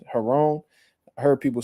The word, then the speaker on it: Giron: I think his name they pronounce it with like a h like in Spanish Heron I heard people saying